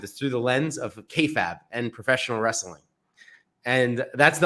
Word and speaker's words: kayfabe: So just to correct you, it's pronounced kayfabe, as Okay.